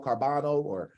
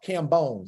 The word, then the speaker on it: Cambone: Danielle Carbano or I don't know how to pronounce her name. All right, but Danielle Carbano, I believe it is Cambone.